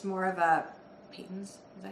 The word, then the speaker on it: Patons: something like that, and it's more of a Peyton's. Is that how you pronounce it? Patons. Peyton's, yeah.